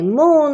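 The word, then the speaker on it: 木: Okay, mu. Okay, mu.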